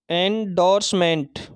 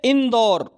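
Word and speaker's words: endorsement: Next meaning देखेंगे, अगली meaning रहेगी हमारी एंडोर्समेंट, इसका उच्चारण रहेगा एंडोर्समेंट। अब देखो एंडोर, आप इसको ऐसा नहीं पढ़ सकते इंदौर, देखो है नहीं, मैं बता रहा हूं आपको, मतलब महसूस करना पड़ेगा, आपको महसूस करना पड़ेगा।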